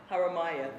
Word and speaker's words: Haramaya: Then there's, please correct me with the pronunciation, Haramaya? Haramaya, thank you.